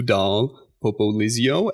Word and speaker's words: Dahl-Popoli: Today we are joined by Dr. Sue Dal Popio. Am I pronouncing your last name correctly, Sue? Yes. Popio. It's uh it's Italian.